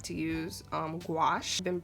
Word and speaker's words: gouache: go to artistic, and I like to use gouache. I've been pronouncing this wrong like my whole life. I used to call it gouache. Oh my gosh, don't make fun of me. I used to call it gouache, but I've been using gouache for my my